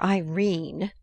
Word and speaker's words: Irene: edith wharton a coward my daughter irene said mrs car style she made it rhyme with turin has had no social